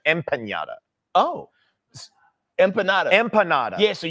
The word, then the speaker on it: empanada: M with an M, empanada. Oh, empanada. Empanada. Yeah, so you're gonna get kidnapped. I'm saying it wrong. Yeah, there's no yada. No, it's ada.